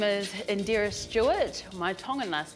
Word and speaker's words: Indira: So how you pronounce it is Indira.